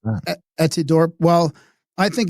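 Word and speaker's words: Etidorhpa: Edorpa, is that how you pronounce that? Etidorp. Well, I think it's Edidorpa. Some people say fa, but it's Aphrodite spelled backwards, and I think it's Edidorpa because it's HPA.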